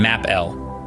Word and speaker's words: m'appeler: Pronouncing this might seem tricky at first, but it's actually quite straightforward. Think of saying map and L quickly together, as in map L.